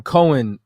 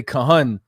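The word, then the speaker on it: כהן: looking at the word what you're pronouncing Cohen what we would say Kahan in Psalms 110 and4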